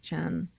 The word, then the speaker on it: Chien: That's how to pronounce her name. I know I had a question about that last time. It's Chien, Chen.